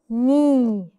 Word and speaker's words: knee: together perfect it's okay knee the K is silent when it's followed by n n okay another n